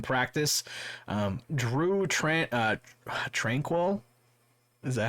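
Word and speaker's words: Tranquill: not participate in practice um drew trent uh tranquil is that how you say his name yeah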